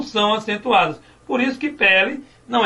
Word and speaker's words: pele: Segundo passo, identificar a sílaba tônica. O que é mesmo a sílaba tônica? É a sílaba que pode ser prolongada. Então a sílaba tônica aqui é quem?